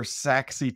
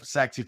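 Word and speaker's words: Sachse: Thomas the first one some folks when they hear saxi Texas which is I think your hometown they may be assuming how it's spelled but it's not spelled like it sounds how's it spelled it's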